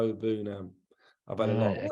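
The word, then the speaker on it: Iroegbunam: Tim's surname is like a silent G. It's Bunam. So silent G, really go for the U. Bunam.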